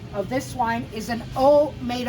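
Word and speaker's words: Haut: the aalas cont of this wine is an O made o ha u t pronounced o means upper in quality although it's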